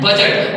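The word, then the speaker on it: budget: को पढ़ना नहीं है उसी तरह से यहां जी से पहले डी साइलेंट इसको पढ़ते हैं बजट क्या पढ़ते हैं बजट उसी तरह से बहुत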